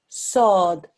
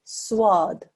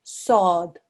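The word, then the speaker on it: ص: ah and a sound sword there is no wow in there whatsoever so it's quite important that you don't introduce a wow sound into it you mustn't say swad the Arabic pronunciation is sword again here with this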